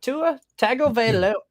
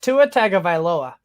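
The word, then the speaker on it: Tua Tagovailoa: against the Saints or Tua tago oh man I butchered it Tua taga at the Ravens I'm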